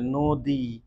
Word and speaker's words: নদী: ন এ অ আছে অ এর পরে দীর্ঘই আছে দীর্ঘই আছে তাই ন টা নো হয়ে যাবে মানে অটা ও হয়ে